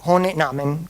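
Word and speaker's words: Ohne Namen: ampio che si chiama Hone Namen, non so come si pronunci. Sì, sì, è giusto, giusto. È tedesco.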